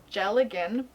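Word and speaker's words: dealgan: drop spindle which is called a gel again but it's spelled deal Gann because Gaelic so this is the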